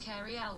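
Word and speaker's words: Cary Elwes: That's pronounced Carrie Elwes.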